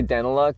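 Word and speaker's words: Daneliuk: Danaloo. We say Danaluck. It's Ukrainian. It be like Dan.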